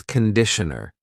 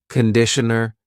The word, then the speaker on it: conditioner: It's not conditioner, it's conditioner. The first vowel is awa. Conditioner, conditioner.